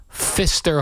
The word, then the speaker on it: Pfister: I believe it's pronounced Pfister Hotel.